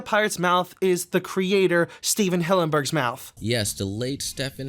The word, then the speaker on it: Stephen Hillenburg: just a simple mistake but Stefan Hamburg it's obviously not correct it's Stephen Hillenburg I have two theories